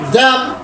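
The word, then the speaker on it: damn: డి డి ఏ డి ఎం ఎన్ ఎం ఎన్ ড্যাম ড্যাম ড্যাম ড্যাম ড্যাম ড্যাম আবার ড্যাম ডি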